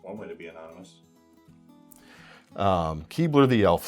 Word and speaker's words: Keebler: Keebler, it's like the elf. It's Keebler, but like Keebler, if you pronounce it quickly.